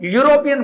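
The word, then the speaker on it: European: इसकी प्रोनाउंसिएशन क्या है, इसको हम यूरोपियन बोलते हैं। तो ये इज नॉट अ वाउल, ये वो वाउल नहीं है, वो कॉन्सोनेंट है, व्यंजन है, स्वर नहीं है।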